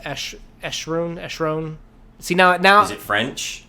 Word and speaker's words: Acheron: It looks like Acheron, but I believe it's pronounced Eschron.